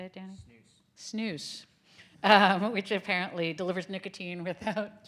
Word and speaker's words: snus: Snus.